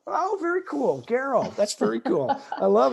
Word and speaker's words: Gareau: G is it pronounced gero Lisa it's actually Geral like Sparrow oh very cool Geral that's very cool I